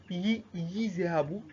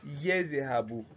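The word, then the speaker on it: يَذْهَبُ: Don't go and tell me uh don't go and tell me yi zehabu by giving a ya kesro, and don't say use zehabu, that you are saying another thing. But you say what? Yezehabu by giving it fatha and not kesro and not what?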